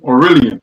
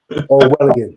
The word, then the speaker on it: Orwellian: Um, this seems appears to be a little draconian, you know, um, Orurelian or how you say it. Orwellian.